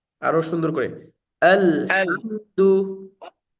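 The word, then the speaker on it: الحمد: করে আল আলহামদু আলহামদু হামজাটা এখান থেকে হলকের শুরু থেকে আলহামদু এই যে এখান থেকে আমি এই যে মার্ক করতেছি দেখেন এই যে হামজার উচ্চারণটা এই যে এখান থেকে করতে হবে আলহামদু আলহামদু আলহামদু আল আলহামদু হ্যাঁ এই সাউন্ডটা রাখার চেষ্টা করবেন আলহামদু আলহামদু আল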